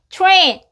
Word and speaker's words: train: rain be rain rain 기차 tr이 같이 왔잖아요 그러면 투 투 투처럼 발음되서 train train 해주세요 트레인 해도 틀리지는 않아요 근데 추후에 가까운 소리가 나서 train train train 내일 손톱 스네요 달팽이